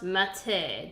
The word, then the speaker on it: mate: It's pronounced mate, dude. It's this local tea, and you could let traces of it on the knife.